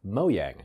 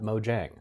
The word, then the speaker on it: Mojang: Which so I found out recently it's pronounced Mojang, not Mojang. Yeah, it's a soft yay. It's a Swedish company.